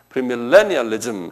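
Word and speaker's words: premillennialism: 밀레의 액센트가 있어요. 프리밀레니얼리즘 한번 발음해 보세요.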